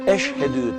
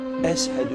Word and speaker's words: Eşhedü: Habeşi yani habeşistanlı Etiyopyalı ş harflerini iyi söyleyemediği için Eşhedü tam söyleyemiyor Ezhel bu şeklinde telaffuz ediyor Yani bugün bizim Diyanet